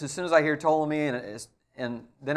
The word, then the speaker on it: Ptolemy: which is which is that Ptolemy even though it's not pronounced this way but Ptolemy starts with a P and so does Pharaoh